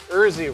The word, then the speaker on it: Erzi: Erzi rhymes with Jersey.